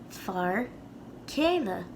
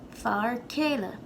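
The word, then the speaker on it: fear céile: to make a point it's not literally like k it's kind of like a weaker k sound that sort of gives way to the vowel after far kayla can almost barely tell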